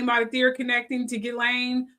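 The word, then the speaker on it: Ghislaine: a theory connecting to Gileain Maxwell because the S is silent apparently in her name Jeffrey Epstein and Maline McCain disappearance.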